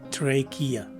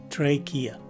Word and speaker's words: trachea: sound, as in kilo, and the letter E is a long letter E. And lastly, the letter A at the end of the word is a swas sounding letter A. So the right way to say this word is trachea. Again, trachea.